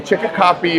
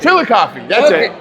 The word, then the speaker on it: Chillicothe: One of our best publishers is in Chicopee, Ohio, is his hometown. So never even heard of it. Yeah, in middle of nowhere. I wonder if you're saying it wrong. I'm probably Chillicothe. Chillicothe, that's it.